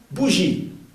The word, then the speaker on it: bougies: Ese O aquí no se pronuncia, simplemente expresa un plural. O 1000 bougies. Bougie. Ese no se pronuncia ahí.